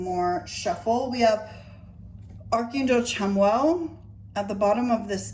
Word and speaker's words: Chamuel: And I was trying to, like, pronounce it, but I was pronouncing it wrong because it's C-H-A, not S-A.